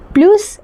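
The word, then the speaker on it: plus: इसको हम प्लस pronounce तब करते हैं जब जो भी अगर एडवर्ब हो ना वो अगर वोवेल से स्टार्ट हो। वोवेल से स्टार्ट हो तो हम इसको प्रोनाउंस करेंगे प्लूस।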